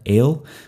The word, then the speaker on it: El: Okay, the Semitic word for God, El, that's a tsere vowel. It's two dots side by side, a long E vowel. It's actually pronounced A, as in they.